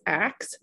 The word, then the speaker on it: ask: And this is a common pronunciation of ask in English, which is axe. And axe, if you don't know, is a highly, highly stigmatized pronunciation of ask. So it's sometimes used as a class shibboleth for race and class, meaning that, you know, if someone says it, then they're automatically uses that pronunciation, then broad assumptions are automatically made about their class and their race. And in fact, axe is the older pronunciation, right?